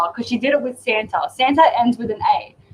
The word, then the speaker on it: Santa: at the end of santur yes and we have to tell her no no it's Santa and now she doesn't